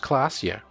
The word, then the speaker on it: Klaasje: Klaasje is pronounced Klaasje.